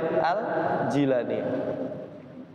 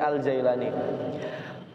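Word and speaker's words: al-Jilani: baca Syekh abdulir itu jangan dibaca aljailani tapi dibacanya aljilani Kenapa waktu guru saya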